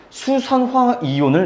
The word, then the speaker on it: 수산화 이온: 그래서 뭐라고 읽어줘야 되는 것이냐? 수, 산, 화, 이온이라고 읽어줘야만 합니다. 됐나요? 즉 염기라고 하는 친구는 수산화 이온을 내놓는 물질이다.